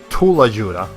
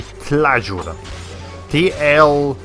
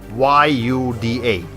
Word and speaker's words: tlayuda: I was calling it a Tulajuda. It's actually called a Tlajuda. Tlayuda.